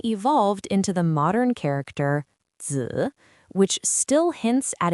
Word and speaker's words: 子: It is pronounced in the third tone. Repeat after me. 子, 子, 子.